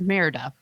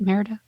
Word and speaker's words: Merida: just hanging out with meredith oh that's how you say it merida i've only seen that